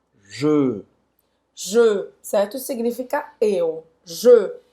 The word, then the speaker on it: je: Não é G, é Je.